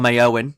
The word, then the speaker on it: Éowyn: red warnings issued for stor Owen that's how you say it see I'm I I can be Irish no it is an